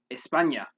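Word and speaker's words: España: letter enye which is the end with the tilde there's technically no sound in english although we do have a similar sound in some words such as the n in canyon an example of a word with this sound in spanish is espana here's an example of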